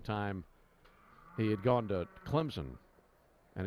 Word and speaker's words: Clemson: he had gone to Clemson, and he said there's a P in there that you pronounce. What? He'd say Clemson. Like almost as if it were C-L-E-M-P-S-O-N.